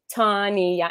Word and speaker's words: Tanya: tell me she's like your name is tawny yeah three syllables tanya and i'm trying to